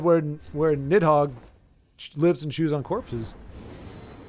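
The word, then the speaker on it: Nidhogg: on this Dragon yeah nit hog phonetically friendly spelling nit hog you did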